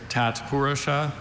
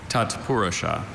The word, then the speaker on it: tatpurusha: There's tatpurosa and tatapura.